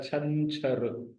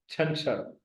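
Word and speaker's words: ڇنڇر: तो सैटरडे को सिंधी में कहा जाता है छंछर। छंछर, 6 पर जबर, नून जो है वो साकिन है, 6 पर फिर अगेन जबर और रे पर पेश, छंछर यानी हफ्ता या शनिचर।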